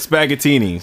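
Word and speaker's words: Spaghettini's: guys Google SP Google spaghettinis it's spelled like spaghetti but spag tinis yep yeah so and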